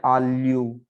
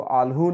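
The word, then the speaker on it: alho: तो जैसे आल्यू, इसको आल्हू नहीं पढ़ना है, आल्यू, है ना।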